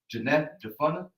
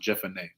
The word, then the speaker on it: Jephunneh: Caleb, the son of Jephunneh. I think it's pronounced Jephunneh.